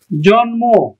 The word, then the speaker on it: জন্ম: এখানে করছি উন্মাত উন্মাত জন্ম জন্ম আমরা উচ্চারণ করতেছি কি জন ম তার মানে কি ম এর উচ্চারণ বা মফলার উচ্চারণ আমরা করছি তারপরে দেখো এই মূর্ধন্য